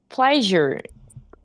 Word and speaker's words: pleasure: Pleasure. The pronunciation is pleasure. Je, like it comes from Je. French.